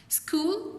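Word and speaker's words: school: स्कूल और आर में H pronounce नहीं हो रहा लेकिन लिखा गया है।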